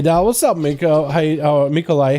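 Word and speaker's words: Mikołaj: Which is pronounced Mikolai. Kind of like Nikolai, but with an M, yeah? No, it's Nicholas. Mikolai is in Polish. Oh, really?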